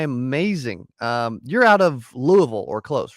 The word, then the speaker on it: Louisville: I know everybody always makes fun of everybody always says Louisville or Louisville but it's like no, I gotta say it like I've got gravel in my mouth a little bit, like Louisville. like a mouthful of marbles, Louisville, Yeah, Yes.